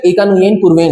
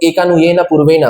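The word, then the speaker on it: एकन्यूनेन पूर्वेण: We pronounce it एज, इसका सही pronunciation एकानुयेन पूर्वेण है, बट by adding A एंड ए कुछ लोग इसको एकानुयेन पूर्वेना, दैट इज रॉन्ग, एकानुयेन पूर्वेन इसका सही प्रोनाउंसिएशन।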